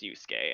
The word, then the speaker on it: Yusuke: Don't be confused with the fact that there are two U's in Yusuke. It is presumably, at least in the English voice over of the game, it's pronounced Yusuke, and I've never heard anybody else pronounce it anything else.